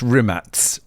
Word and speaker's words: Rimac: And it's pronounced Rimats, by the way, I think.